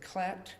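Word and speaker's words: Klette: I pronounce it Klett, K-L-E-T-T-E.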